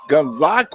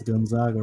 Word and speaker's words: Gonzaga: That was Zaniah Gonzag. I hope I pronounced that right. It's Gonzaga.